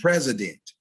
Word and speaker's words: president: No, if you pronounce it like that, you broke the rule, the number 2 rule. It's not president, it's the president.